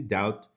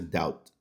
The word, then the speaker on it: doubt: Their head spins just thinking about it and they immediately doubt. Aqui pronúncia doubt. Doubt. Esse B é totalmente mudo.